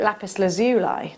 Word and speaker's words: lapis lazuli: And you've got a huge carat weight, 850 carats, sorry, of lapis lazuli. Some call it lapis lazuli, don't they? I think that's an American pronunciation.